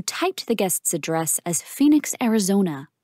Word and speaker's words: Phoenix: to improve you typed the guest's address as Phoenix Arizona it's spelled p-h-o-e-n-i-x not p-h-e-o-n-i-x well it should be